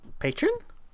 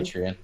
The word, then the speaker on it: Patreon: So anyway, I became a patron. Is that how you say it? When I'm giving money? Patreon.